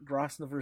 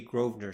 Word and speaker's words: Grosvenor: I enclose the telegram and am your faithful servant, Upper Grosvenor Street, May 30th, MP. It'll be Grosvenor Street.